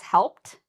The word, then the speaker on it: helped: No, I just made that strong t sound.